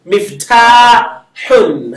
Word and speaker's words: مفتاح: So you see me and then fa is silent. Mif Mif. ta. The ta is elongated. Miftahun. Ha with the double vowel.